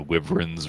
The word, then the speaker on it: wyvern: Apparently, it's wyvern. Wyvern? Yeah, like Really? an eye, like a long eye.